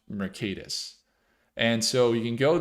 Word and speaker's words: Mercatus: It's pronounced Mercatus.